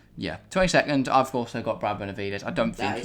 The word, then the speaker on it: Brad Benavides: Does he happen to drive for PHM and rhyme with Lads Benavides? It is Brad Benavides.